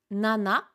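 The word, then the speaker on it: 七: l' que l' que et pour le chiffre 7 on peut avoir également deux lectures en fonction si c'est la lecture japonaise ou la lecture sino jaaponaise on aura soit nana soit ch je récapitule pour ceux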